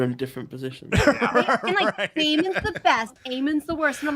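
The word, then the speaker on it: Aemond: different positions the best eamon's the worst and I'm like here you do like a little Django and chain where they're just like they're like my name's Eamon the D is silent I mean they're so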